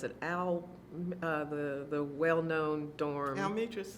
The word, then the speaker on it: Almetris: You got the privilege, so everybody else has the wage, So you mentioned, I forgot how to pronounce it, the well-known dorm. Almetris. Almetris.